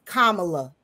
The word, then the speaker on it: Kamala: well for calling someone can't pronounce her name it's kamla kamla kamla is a h